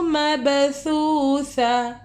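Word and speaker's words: مبثوثة: अब यहाँ पे मबसूसा में ता साइलेंट हो गया, नीचे वाला हा पढ़ेंगे।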